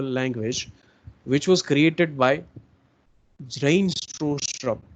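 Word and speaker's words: Bjarne Stroustrup: C++ is a middle level or a lower level language which was created by Zrain Strostrup, right? B છે silent છે, B is silent in the name.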